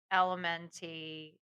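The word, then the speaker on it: LMNT: single day I use elementy electrolyte packets so it's l MN and we just call it element because that's actually how they want it pronounced they are the best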